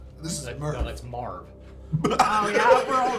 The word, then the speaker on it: Marv: on purpose well that's Merv this is murder no that's Marv oh yeah we're all wrong he just pronounces it Merv it's the Midwest it's the Midwest accent continue did he